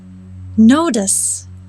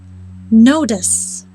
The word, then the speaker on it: notice: an unstressed syllable therefore the letter t is pronounced with the d sound notice this notice notice